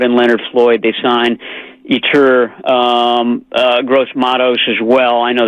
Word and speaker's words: Yetur Gross-Matos: Yeah, the pronunciation guide says Yetur. Gross-Matos.